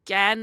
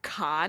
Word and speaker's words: Cannes: France, and Gan is how it's pronounced. In French, you do not pronounce the S in Gan.